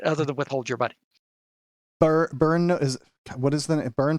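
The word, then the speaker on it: Byrne: than withhold your money burn is what is the burn funds but b-u-r-n how do you spell that word i believe it's burn b-y-r-n-e okay b-y-r and that's burn grant money i believe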